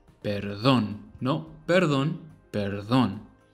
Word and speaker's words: perdón: Put the emphasis on the O, because that's where the tilde is. Perdón.